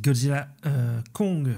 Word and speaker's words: Godzilla x Kong: c'est donc le film c'est Godzilla Kong parce qu'il faut pas prononcer le X Godzilla Kong new empire